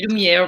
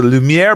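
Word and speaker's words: Lumière: it rhymes in french the lumiere brothers rhymes in french and good night everybody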